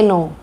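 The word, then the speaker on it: knee: बोलेंगे नो, लिखेंगे के नो, तो वो बच्चों को याद हो जाता है ना। या फिर नी माने घुटना, हम इसे बोलेंगे नी लेकिन लिखेंगे के नी, इसमें के साइलेंट है।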